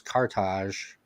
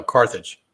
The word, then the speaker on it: Carthage: say it wrong but it's cartage no carthage carthage okay so yeah